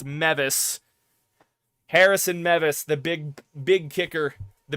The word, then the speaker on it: Mevis: And I got the kicker's name wrong. It's Mevis.